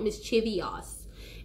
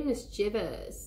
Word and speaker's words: mischievous: do at the end it's not mischievious oh my god sir be mischievous you know very well